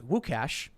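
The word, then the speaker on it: Łukasz: the way i believe luke is lucas in polish pronounced wukash freedom tunes is my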